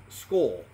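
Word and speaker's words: skål: balance equality and justice to school pronounced skull with another person the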